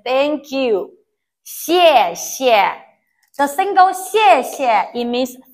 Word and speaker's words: 谢谢: 西, this X we pronounce C I E 耶, 西, 耶, 谢, but the tone is the fourth tone, so we pronounce 谢, 谢.